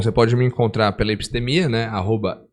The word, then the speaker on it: Epstemia: Bom, você pode me encontrar pela Epistemia, né? @EPStemia, como se fala. Com P mudo só.